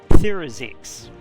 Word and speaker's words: Therazix: Okay, so known as Cathy in the studio, the obvious pronunciation of this, if you look at it carefully, is Therazix. Which is really hard for English speakers to say because of the th.